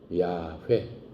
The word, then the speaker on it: YHWH: 모음이 없기 때문에 yhwh에요 yhwh를 히브리말 발음으로 하면은 야훼 그걸 여호와 이렇게 부르는